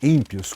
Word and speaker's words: ímpios: a sua Revelação certo ímpios com o i eh forte né sílaba I sílaba Inicial forte então vejamos aqui 9:17